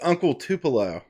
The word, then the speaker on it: Uncle Tupelo: If anybody knows who that is, it's Uncle Tupelo is how you pronounce it.